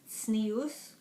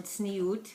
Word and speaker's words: Tznius: and i call this sneus or snewt however you pronounce it three different ways which means modesty and